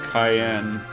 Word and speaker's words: Cyan: Gary says fun fact his name is actually pronounced Cayenne or Cayenne like the pepper fun fact much like